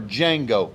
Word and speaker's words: Django: hollywood jackie brown or django the d is silent uh again i